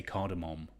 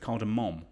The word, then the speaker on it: cardamom: I try and overpronounce the M when I say cardamom, because I think probably it was about 2 years ago that I found out it wasn't cardamom, but it's cardamom, which I think is nice.